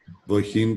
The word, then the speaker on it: wohin: We have two words, wo plus hin. And when we have this case, we pronounce them like if they were alone. separated. So we have wo and him. Wohin. Wohin. Good. It's not in the middle of one word, it's at the beginning of the second word. So we pronounce it.